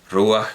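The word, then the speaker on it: ruach: arameo y en hebreo rúas que por cierto en arameo se escribe ruja pero claro es rúa como en como en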